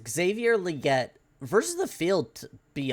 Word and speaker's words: Legette: but yeah I think Legette or liette how does he pronounce it again liette liette okay I think liette